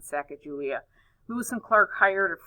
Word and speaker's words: Sacagawea: One Native American in particular is Sacagawea. I've also heard this name pronounced Sagagawa, Sagagawea, and so there's different names, but I guess I've always kind of fell back on Sacagawea.